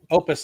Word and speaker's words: OUPES: But this Opus is how it's pronounced.